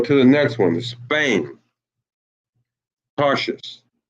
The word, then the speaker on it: Tarshish: Spain, Tarshish. And that is pronounced in the Hebrew I love our language, man. That's pronounced Tarash Yash.